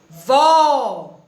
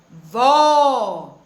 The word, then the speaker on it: vó: vou na palavrinha vô perceberam que o o já mudou o vó vô já mudou não é o som todas as duas palavras têm uma única sílaba vó vô porém os assentos são diferentes na palavra avó nós temos o acento agudo e na palavra e nós temos o acento circunflexo tá nós vamos aprender